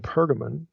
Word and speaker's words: Pergamon: a place specifically in pergamon or pergamum okay you see it pronounced either way and spelled either way in verse 13.